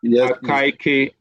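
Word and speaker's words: Akaike: Is that how you pronounce it? Yes. AK information criteria.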